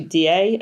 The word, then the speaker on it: Diet: It's spelt like diet, but it's actually DA, I think, or something, which just means like a kind of meeting.